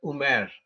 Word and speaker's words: Umar: Yeah, they will pronounce that word Umaru as Umer, yes, or Umar.